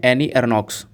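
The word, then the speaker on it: Annie Ernaux: तो नाम आपको ध्यान रखना है एनी एरनॉक्स। अब इनके नाम का प्रोनाउंसिएशन आपने कहीं कहीं पर एनी एरनॉ देखा होगा बस, और कहीं कहीं पर लिखा हुआ है एनी एरनॉक्स।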